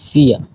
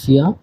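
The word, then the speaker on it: vier: 4 কে বলা হয় ফিয়া। ভির উচ্চারণ ফ এর মতো, আর লাস্টে এর থাকলে তো ওটা উজ্জ্ব থাকে হালকা। তো 4 কে বলা হয় ফিয়া।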